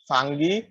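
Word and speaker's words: fungi: কিন্তু আমরাও ফানজাই বলতাম, কিন্তু আমরা আজকে আমি প্রনাউন্সিয়েশন সার্চ দিয়ে দেখলাম এটাকে ফানজি, ফাঙ্গি এরকম আরো কিছু উচ্চারণ আছে, কিন্তু ফানজাই এরকম পাইনি। বুঝতে পারছো?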